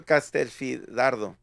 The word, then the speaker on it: Castelfidardo: I have trouble pronouncing it. Pero Castelfidardo.